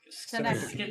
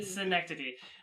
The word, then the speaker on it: Schenectady: I think I got like, you brought up Schenectady earlier, and I only sat through like, it's pronounced Schenectady. Schenectady.